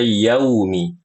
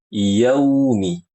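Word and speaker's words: يوم: pada kata yaumiddin ya tidak menyempurnakan hukum Lin pada kata yaumi dibacanya jadi yaumi yau yau yaumi harusnya yaumi yau yaumi yaumi seperti itu dan berlebihan dalam mendatangkan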